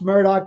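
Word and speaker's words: Murdaugh: I'm sorry sorry guys keep saying M but it's pronounced Murdoch and then his name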